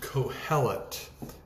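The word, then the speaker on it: Qoheleth: and some others is a word called or pronounced cohelet if you have a good translation you may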